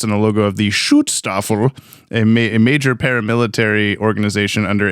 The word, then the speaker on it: Schutzstaffel: the logo of the Schutzstaffel, a major paramilitary organization under Adolf Hitler. That's how you say it. You got to put the little accent in it.